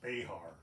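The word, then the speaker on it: Bexar: Well, you know, in San Antonio, they call it Bear County. Originally, like during the days of the AW era, it was actually pronounced Behar.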